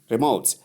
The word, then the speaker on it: remote: so it's wrong pronunciation the right way to pronounce the word remote is simply remote as denoted so the r sound and short e sound give us re and then m sound o sound and to sound give modes.